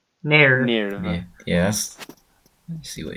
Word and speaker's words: NERV: But it's the fact that they say nerve in a weird way because it's spelled N-E-R-V. It's like nerve. Nerve.